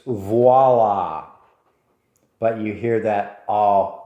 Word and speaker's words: voila: I've heard it in advertisements where somebody does something wonderful and they go, voila, look at that. No such word as voila. It's voila.